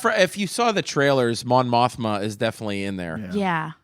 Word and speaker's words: Mon Mothma: Mon Mothra. who's Mon Mon? Mothra. Did I say it wrong? Yeah, if you saw the trailers, Mon Mothma is definitely in there.